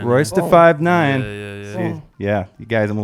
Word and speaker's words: Royce da 5'9: It's Royce da 5'9". Royce da 5'9".